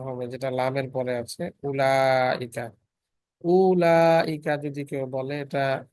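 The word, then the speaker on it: أولئك: Note that the ওয়াও ইন উলাইকা, উলাইকার মধ্যে যে ওয়াও আছে ইজ নট প্রোনাউন্স, এটা উচ্চারিত হবে না। দ্যাট ওয়ার্ড ইজ প্রোনাউন্সড উলাইকা, নট উলাইকা।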